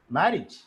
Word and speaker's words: marriage: AGE should be pronounced as E, marriage, manage, Monday, sun, sun, Sunday, rhythm.